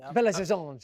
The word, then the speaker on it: Belo Horizonte: I just that game, by the way, was in Belo Horizonte, Brazil. Oh, is that how it's pronounced? Wonderful. Belo Horizonte.